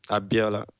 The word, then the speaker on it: Abiola: Yeah, Abiola.